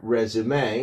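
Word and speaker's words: résumé: The word resume you know pronounced the French way (rez-oo-me) derives directly from the past participle of the French verb "resumer" which meant to sum up.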